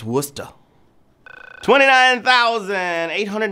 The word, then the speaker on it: Worcester: Worcester Massachusetts it's spelled real goofy but it's pronounced Worcester twenty nine thousand eight hundred ninety-two knew what